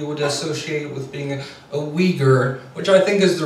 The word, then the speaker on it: Uyghur: very recently and um possibly that's because in chinese it's way words and so i got the way in my head but it's uyghur that's how the uyghurs pronounce it the wigas are a